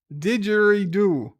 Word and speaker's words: didgeridoo: ahoy hoy what didgeridoo i think i know how to pronounce it i'm the one that's australian eh didgeridoo got you i no